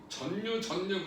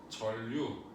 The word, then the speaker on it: 전류: 예, 발음은 자음동화 해서 해주세요. 전류 그러지 말고 전류.